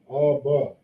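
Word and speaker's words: אבא: This is how you pronounce it. Abba.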